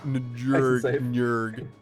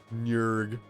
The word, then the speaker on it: Njurg: Njurg? There you go. Njurg. Njurg. That's what it is.